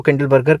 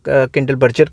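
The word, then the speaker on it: Kindleberger: तो नर्क्स एंड किंडल, कुछ लोग इसको किंडल बर्गर कह देते हैं, कुछ लोग किंडल बर्जर कह देते हैं। ठीक है, तो अब प्रोनाउंसिएशन आप अपने हिसाब से ले सकते हो।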